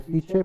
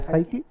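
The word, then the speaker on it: Psyche: al asteroide piki vale parece que se dice sich pero no en la pronunciación americana siki y es de tipo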